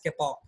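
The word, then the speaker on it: kapok: Sometimes we call it capac also, it depends because it is a noun na, somebody it pronounces it as a capac, somebody they might pronounce it as kepak.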